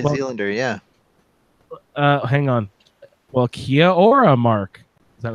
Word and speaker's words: Kia ora: Well, Kia ora, Mark. Is that right? Did I Nice. say it right? Kia ora. Ora. Sorry. It kind of rolls together, yeah.